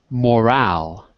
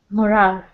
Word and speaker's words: morale: okay great but there's one word that's very important with pronunciation morale morale because if you say it the other way it'll sound like moral which is a totally different